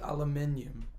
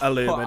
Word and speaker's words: aluminium: things are said, because we say aluminium Oh yeah. because that's the right way to say it. Aluminum.